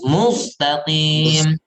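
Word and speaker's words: مستقيم: Jadi jangan yang rawan itu di kata mustaqim, contohnya itu rawan itu. Sin rawan dibaca dengan tebal. Mustaqim. Ihdinas siratal mustaqim. Tipis. Ya, jangan ditebalkan.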